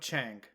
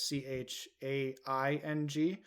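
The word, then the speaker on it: Chiang: And one of those people, funny enough, is they spell it, so it's Doug Chang, who they spell Chang, but his actual name is Chaing.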